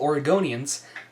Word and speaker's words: Oregonian: So, being as Kate Brown is really the source of several issues that are very important to all Oregonians, and yes, that's how you pronounce it. Oregonian.